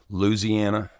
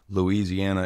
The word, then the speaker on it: Louisiana: Louisiana has four syllables. My granny worked for the state, and that is official. Louisiana is some northerner bullshit. Let's go. Louisiana.